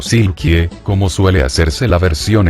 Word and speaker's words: Silke: 2016, el personaje debutó bajo el nombre de Silke, aunque pronunciado como Silkie, como suele hacerse la